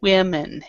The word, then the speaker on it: women: women, and that's a real common mistake that people do, but women is how we pronounce it.